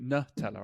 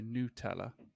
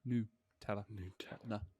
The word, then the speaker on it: Nutella: it says it's like the pronunciation is n-o-o new teller which is weird because